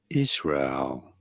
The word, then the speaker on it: Israel: biblical Holy Land in English it is generally pronounced as Israel s Rael Israel did you get it let